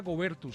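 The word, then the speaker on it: Goebertus: En primer lugar, saludo a Juanita Gobertus. ¿Así se pronuncia su apellido, Juanita? Así es, Juan Pablo, muchísimas gracias por esta invitación.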